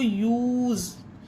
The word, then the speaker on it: use: यही तो हमारा रूल कह रहा है कि एक लेटर को छोड़कर अगर ई है तो उसमें यू उच्चारण दिया जाएगा, तो यूज।